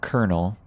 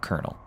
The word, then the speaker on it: colonel: is now coronel pronounced kernel even though the spelling remained colonal. So the R was replaced with an L in the spelling but we still pronounce it with an R. So colonel.